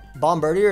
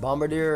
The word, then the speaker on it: Bombardier: the wing so uh Bombardier is pronounced Bombardier or whatever but I like bomb Burger I just want to let everybody knows there's always a bummer deer Bombardier Bombardier oh it's like French like Bombardier yeah bomber day probably